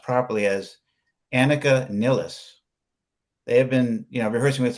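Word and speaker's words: Anika Nilles: But the thing is, the guys in Rush have been rehearsing with, I think her name is pronounced properly as Annika Nilles.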